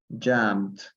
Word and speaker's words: jumped: Jumped. Jumped. Ajá, no se pronuncia la E.